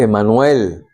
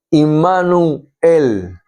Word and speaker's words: Immanuel: Emanuel, fíjese, Emanuel. Es en hebreo y se lee y se pronuncia immanuel, que significa con nosotros Dios.